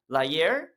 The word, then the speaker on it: La Hire: But there's one guy named Lahier. It's spelled La Hire. And like, do we say La Hire?